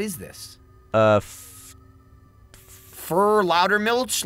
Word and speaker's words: Milch: milk right milch no it's German for milk no okay sure milch milk milch you have to pronounce it like that whenever it comes up